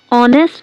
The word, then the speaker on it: honest: Use an before honest and r. Here h is silent.